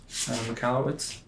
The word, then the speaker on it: Michalowicz: Michalowicz?